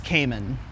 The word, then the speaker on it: Camon: drought, his name in the other life is Kamen, pronounced but still not spelled the same as my own name.